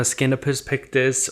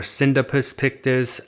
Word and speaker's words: Scindapsus pictus: Now, my Scindapsus pictus or Scindapsus pictus, I hear people pronouncing it both ways.